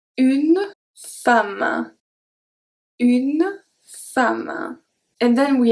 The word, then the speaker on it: femme: And the last one is going to be E in the word, but it's going to be pronounced A. And there is one that you probably know. It's une femme.